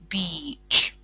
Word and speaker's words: beach: you pronounce it so please always say it with a long e like beach good uh on the